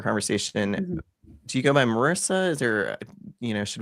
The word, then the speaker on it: Marisa: Um and it it's pronounced Marica, but but I apologize.